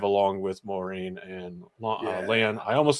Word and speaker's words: Lan: along with Maureen and Lan. I almost said his name wrong. I almost said Lon. That is wrong.